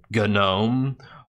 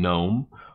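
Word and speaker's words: GNOME: that'll ridicule you because you don't understand how to pronounce e8 certain terms like gun ohm or instead of saying Nome or Debian and you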